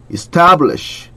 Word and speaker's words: establish: or spiders and then establish 한번 보실게요. 이것도 우리가 선생님 강조하는 그 에 발음입니다. 에 발음 입을 크게 벌리고 혀를 낮추고 establish 이것도 여기 T도 그 한국말 쌍기긋하고 비슷하게 소리가 납니다.